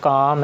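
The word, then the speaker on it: calm: इसी तरह काम है, इसमें जो एल है वो साइलेंट है, के बाद यहाँ पर प्लेस हो जाएगा।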